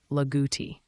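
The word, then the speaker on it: Loogootee: Locals around here would say it like Laguti.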